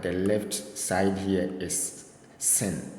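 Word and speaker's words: שׂין: like that with s when you see the dot here is s sound s sound like S as in sin the name to is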